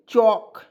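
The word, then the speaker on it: chalk: तो यहाँ पे देखिए CHAL के चौक, क्या पढ़ेंगे, चौक, ठीक है।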